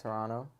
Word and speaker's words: Toronto: Toronto you say it you say it correctly too some people say Toronto absolutely not I don't understand why the other T is silent though someone got to explain that I don't know it's just something about it it's a silent te I guess it's it's the silent te oh that's that's actually